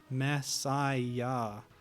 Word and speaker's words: Messiah: Messiah. So you're actually supposed to pronounce it like Messiah, like the Christ.